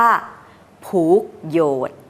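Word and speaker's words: ผูกโยชน์: กัน ที่ เรียก ว่า ผูก โยชน์ ภาษา ใต้ เขา ออก เสียง แบบ นี้ นะ คะ อีก น หนึ่ง ก็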